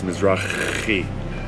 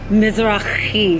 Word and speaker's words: Mizrachi: If you want to pronounce it right, it's Mizrachi. Mizrachi.